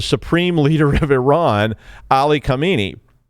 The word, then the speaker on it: Khamenei: leader of Iran, Ali Khamenei. Khamenei, yeah, that's how you say it.